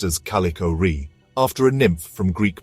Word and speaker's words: Kallichore: the I officially named s203 j11 as calicho pronounced as calicor after a nymph from Greek mythology calicor in